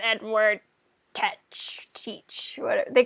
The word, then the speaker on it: Teach: is like i'm edward teach rhymes with beach and i was like